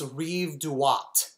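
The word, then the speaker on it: Rive Droite: i can't spell it it does not sound like it's it's reeve dewatt that's what the right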